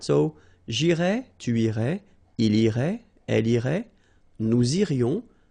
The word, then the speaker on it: irais: Tu irais. Same thing here, final S not pronounced. Tu irais.